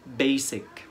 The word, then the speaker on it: basic: vowel letters بننطقها z، لكن هنا هنقولها base مش base. وبالتالي هنقول كلمة أساسي basic مش basic. النطق الصح basic.